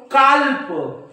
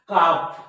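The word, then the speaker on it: calf: शब्दांना कसं वाचतील हो काल्प काल्प हे काल्प नाही काप काप या हाल्प हाल्प तिकीट द्या हाल्प तिकीट नाही हा काप हाफ काप हाफ येतंय लक्षात पण आज पर्यंत जर तुम्ही याला काल्प म्हणत असाल तर याला काप म्हणा याला हा म्हणत असाल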